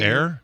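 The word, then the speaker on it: Eyre: air thank you jeie Ella air probably pronounced Ella a Ella a um uh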